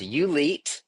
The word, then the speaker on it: ULETE: So, you and your dad created you Elite together. What inspired you to build something like this in South Lake? Yeah, great question, Liam. Uh, so it's pronounced ULite and it means the athlete in you.